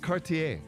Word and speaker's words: Cartier: His name is Jacques Cartier. Oh, yeah, Jacques I almost got So, that. but here's the thing. I'm gonna. Can I Rhymes get? with RCA. Yeah, it does rhyme with RCA.